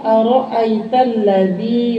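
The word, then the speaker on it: أرأيت الذي: Ara'aital ladzi yukadzibu bid-din. Ra-nya tafkhim, artinya tafkhim itu dibacanya tebal. Jangan aro'ait, aro, berarti yang kedua, aro, bukan aro, harus tafkhim, tebal.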